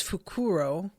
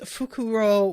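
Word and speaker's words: Fukurō: guy is fukuro fuku I can never tell how how I should say things because I am used to the like Latin accent usually on the uh the first syllable or last syllable but in Japanese I think it tends to be like the second syllable a lot of the time um Gus says they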